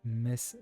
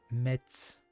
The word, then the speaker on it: Metz: Comme les mecs qui disent Metz, j'en peux plus. Metz.